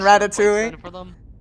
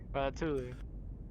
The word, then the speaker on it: ratatouille: Pronounce the elves and ratatouille. What? Nothing. I'm messing with you. That's how it's written down. Ratatouille. It's Yeah, you It's ratatouille. Oh, the L's are silent like with tortilla.